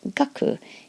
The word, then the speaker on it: 学: body and arms and that's pronounced gaku giving us D gaku